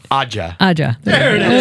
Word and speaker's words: Ajja: Ajja.